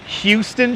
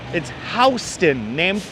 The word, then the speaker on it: Houston: and they call it Houston Street, just unsubscribe immediately. That's complete bullshit. It's Houston, named after a Dutch family that used to own the land around here. It's pronounced Houston, not Houston.